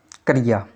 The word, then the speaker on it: क्रिया: इनका शुद्ध उच्चारण क्या है आज हम आपको बताएंगे। पहला शब्द है क्रिया।